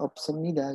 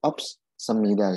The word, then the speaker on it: 없습니다: Kenapa dibacanya opsemida gitu kan? Padahal dia ada S2 di sini. Gitu kan? Harusnya kan ops semida gitu. Ya itu tadi S-nya double jadinya kan. Kalau kamu baca jadinya opsemida gitu.